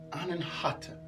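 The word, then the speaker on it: अनाहत: The Sanskrit word is pronounced Anahata.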